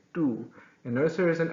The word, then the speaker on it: tú: So it's not tú, it's tú. You're not going to spit, okay? Tú.